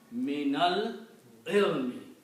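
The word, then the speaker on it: مِنَ الْعِلْمِ: If two letters have sukoon, you cannot pronounce them. So what you do, you take this guy here and you change into a fatha for pronunciation. So now you pronounce me, nal, ilmi. Minal ilmi.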